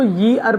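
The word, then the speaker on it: year: देखिए many times क्या होता है, बच्चे इसको ईयर पढ़ते हैं। ईयर पढ़ने के चक्कर में क्या होता है, उनको लगता है कि ई का साउंड यानी कि वॉल का साउंड आ रहा है, बट इट इज़ not just like that, it इज़ नॉट ईयर। वाई जो है सेमी वॉवल होता है, तो उस नज़रिए से हम इसको ईयर ना पढ़ के, एक कॉन्सोनेंट भी है, हम इसको यी अर पढ़ेंगे।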